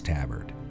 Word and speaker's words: tabard: I know it's Tabard. I looked it up. That's the correct American English way to pronounce it.